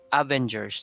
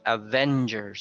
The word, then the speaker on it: Avengers: Okay, it's not Avengers, no? It's Avengers. So the stress is on the second syllable.